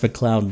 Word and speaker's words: MacLeod: It's pronounced MacLeod though, apparently.